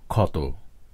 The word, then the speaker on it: ক্ষত: যেমন শব্দের শুরুতে ক্ষীয় উচ্চারিত হয় খ এর মতো, যেমন ক্ষত, আর শব্দের মাঝে বা শেষে উচ্চারিত হয় ক হসন্ত খ এর মতো, যেমন অক্ষত।